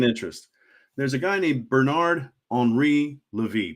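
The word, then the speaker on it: Bernard-Henri Lévy: There's a guy named Bernard Henri Levy, Bernard Henry Levi, in more white guy English pronunciation. Bernard Henri Levy, and he's this gentleman of a certain age.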